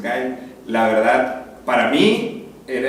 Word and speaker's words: Guile: A mí me gustaba mucho en Street Fighter agarraba al soldado, se llamaba Guile, le decíamos, pero el nombre real es Guile, pues como se pronuncia es Guile.